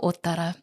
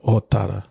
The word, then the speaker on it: Ōtara: So yeah, Ōtara or Te Pokea Ōtara. Or It's over 20 episodes. Someone asked me on the comments, it's like, oh, okay, I will pronounce it correctly. So, Ōtara. Ōtara, tēnā koe tutungange.